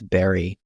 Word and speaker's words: Berry: his name is Thomas Berry like Berry like the fruit b e r r